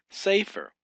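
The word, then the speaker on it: ספר: Safer is broken up into two syllables. Say with the sic and the s say fair. The uh fay, the seagull and the rash. Say fair. You got safer.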